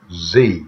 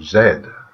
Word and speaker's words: Z: the the blue is z or Zed as the English pronunciation and Z for the American pronunciation and this little grab